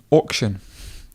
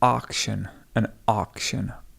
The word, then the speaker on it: auction: Depending if you are from North America, the AU sound is often pronounced R. So this would be an auction, R.